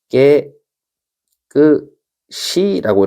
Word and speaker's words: 깨끗이: 원래 발음은 깨 끄시라고 이렇게 읽어야 되는 거죠.